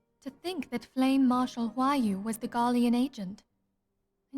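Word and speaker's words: Roaille: To think that Flame Marshal Huayu was the Garlean agent. I know not what to say. I'm sorry, what? Okay, so I've been pronouncing her name Royale, as in how it's written.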